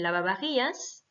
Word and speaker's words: lavavajillas: Hein, attention, le V se prononce B, donc el lavavajillas.